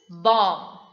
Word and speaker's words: bomb: used on hiroshima nagasaki that is bomb not bomb b the last b is silent since is coming after m towards the end of the word next is thumb what